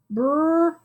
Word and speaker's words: bright: new trigraph igh igh underline it mark out those g's and h's those are totally silent and then just go